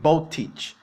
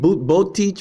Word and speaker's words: Boteach: See how they say his name? Boteach, Botech, right?